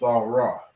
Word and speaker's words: Torah: five books of the bible they call it torah okay but this is the proper way to say this word it's all raw okay and it means the law it's very